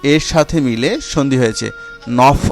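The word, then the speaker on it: neuf: উচ্চারণ হয় তাই তো, কিন্তু এই নফ শব্দটি যখন এমন কোনো নাউনের পূর্বে বসবে যার শুরুতে 5টি ভাওয়েল আ, এ, ই, ও, উ এবং ইঘেক অথবা আশ থাকে, তখন এফের উচ্চারণ পরিবর্তিত হয়ে ভা হবে।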